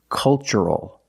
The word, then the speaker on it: cultural: So the pronunciation, that's right, it's ch. The first word, culture. And the second word, cultural. Also remember the first syllable is a short U, like cup and up. Make a relaxed sound.